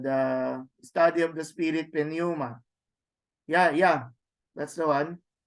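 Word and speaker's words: πνεῦμα: to hear it Puma the others would you would would simply ignore the P it just becomes a Naoma but I think we should we should stick we should still put a small p in the sound puma and patology so that's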